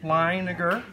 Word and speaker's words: Leininger: And Jordan pronounced his name correctly, Leininger.